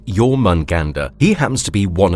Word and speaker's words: Jörmungandr: to another marvelous videos pronounced as your munganda he happens to be